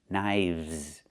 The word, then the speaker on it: knives: One knife, two knives. Again, with the VV sound plus the Z sound like in zebra. Knives.